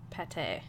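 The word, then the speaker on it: pâté: I'm pretty sure it's pronounced like plate without the L. It's funnier to say pate.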